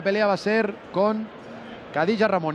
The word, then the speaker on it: Khadija: estirón de oreja porque no se llama Khadija como pronunciamos, a pesar de que su nombre empiece por K, sino que se pronuncia con J. Khadija Ramuni.